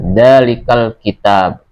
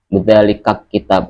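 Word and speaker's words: ذلك الكتاب: Jadi cara membacanya dzalikal kitab, bukan dzalikal, ya. Tapi bukan dzalikat. Dzalikat kitab, bukan. Tapi dzalikal kitabu la raiba fihi.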